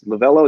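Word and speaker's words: Lovullo: Torey Lovello, I believe his name is Lovello. Is that how you say his name?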